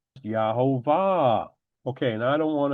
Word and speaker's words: YeHoVaH: But because this U really is a V, when we go up here to the father's name, it is a V pronounced as a V. Yahovah.